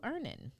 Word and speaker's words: Earnin: And so that's why I want to tell you to download Earnin on the App Store or Google Play, spelled like earning money without the G.